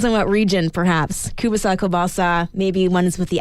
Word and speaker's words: kielbasa: Kielbasa sausage.